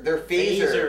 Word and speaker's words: phaser: The pH is for fantasy, spelled in, Totally in a very different. fancy way. God. It rhymes with laser.